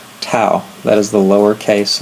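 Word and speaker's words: tau: the symbol for torque is the Greek letter to that is the lowercase letter to and in English the way you spell it well first of all this is kind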